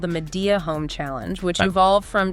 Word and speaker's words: Midea: Well, we're going to unpack how Midea, Okay. and that's pronounced my dear, My dear.